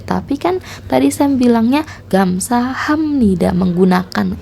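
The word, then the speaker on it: 감사합니다: warna merah cara membacanya Apabila ada B bertemu n maka b nya akan berbunyi menjadi m ini hanya cara baca kalau tulisannya sama sama-sama B jadi untuk membacanya menjadi gam saham Nida tapi ditulisnya gamsah ya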